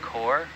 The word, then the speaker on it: corps: Is that different from the corps, the NOAA corps? It's the same. How you pronounce it, yeah, corps.